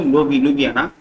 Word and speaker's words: Ljubljana: See that Slovenia was now enlarged here, and Slovenia capital is Ljubljana. The letter J is silent here. See that J is there. The J's are silent. So Ljubljana.